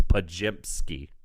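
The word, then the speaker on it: Podziemski: Talking about funny pronunciations. Stephen G told me it's Pajimski.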